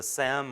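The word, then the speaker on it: SIEM: problem right where the the Sam or the seam depending on how you pronounce it here the the Sam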